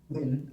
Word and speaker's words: Nguyen: Yes, Commissioner Nguyen. Sorry, did I pronounce it right? Oh, Wayne. Win.